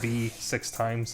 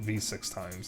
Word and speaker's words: VVVVVV: If you don't know what V6 Times is, that's the game that has the title that is the letter V 6 times. It's actually called V6 Times.